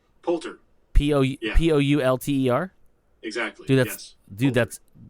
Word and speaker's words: Poulter: The long-dormant Ubisoft stealth series returns with an 8-episode BBC radio series starring Will Porter? P-O-U-L-T-E-R. Wait, what? Really? Will Port... God damn it, why can't I pronounce that last name?